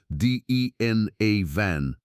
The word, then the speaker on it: William Denevan: The first hints came, oddly enough, not from archaeologists, but from oil company geologists and a geographer named William Denevan, pronounced DN A Van, who back in the 1960s began publicizing the existence of enormous prehistoric earthworks scattered across these planes.